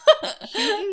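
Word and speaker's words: Houghton: Hen Mifflin. Uh, who wore white gloves. Hton Mifflin. Oh, it's Hton. Hton.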